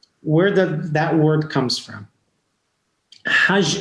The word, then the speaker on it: Hajj: Hajj is written Het Gimal, right? But they pronounce the G as Je. And now, if you read it in Hebrew, is Hag, right?